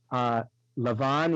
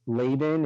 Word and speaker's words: Lavan: Also, her father's name, Lavan in Hebrew, Laban in the English pronunciation, it meets one of the words in Hebrew that means moon.